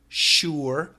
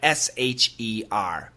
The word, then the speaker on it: sure: Sure. Almost two syllables, right? Sure. Sure. But most Americans will simply say sure. Sure. Sure. Like sher.